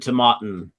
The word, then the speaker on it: Tomatin: a question come in what is the correct pronunciation of to mtin to mtin you nailed it first time to mtin it comes from the GAC language uh GAC uh um